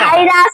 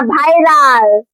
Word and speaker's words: ভাইরাল: প্রথমে তুমি উচ্চারণটা ঠিক করে কও, ওটা আচ্ছা। ভাইরাস না ভাইরাল।